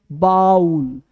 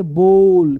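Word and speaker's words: bowl: ये देखो गौर से बाउल बाउल बाउल गलत है पढ़ेंगे बॉल क्या पढ़ेंगे बॉल कट कटोरा या बर्तन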